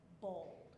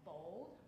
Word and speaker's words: boiled: Bold. Bold. One more time. Bold.